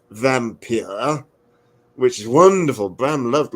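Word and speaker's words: Wampyr: undead that's the title it would be pronounced vampir which is wonderful Bram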